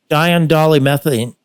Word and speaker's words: diindolylmethane: So anyway, the first one I'm adding now is called DIM, D-I-M, and it's pronounced diindolylmethane.